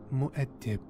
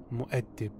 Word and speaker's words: Muad'Dib: The word is an Arabic name pronounced Muad'Dib. Muad'Dib. Muad'Dib. Frank Herbert comes close to the Arabic pronunciation.